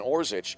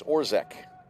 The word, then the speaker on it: Orzick: he's one for one it was announced as evan orzich our pronunciation guide has it as orzek and usually as a